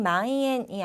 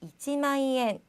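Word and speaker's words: 一万円: 우리 아까 만 얘기를 할 때 잠깐 봤지만 그냥 마이엔이 아니라 앞에 이를 꼭 붙여주셔야 합니다. 그래서 이치마이엔 이렇게 읽어주셔야지만 통하니까요.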